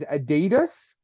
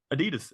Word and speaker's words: Adidas: They knew Australia was pronouncing it wrong, and they're like, Adidas, Adidas.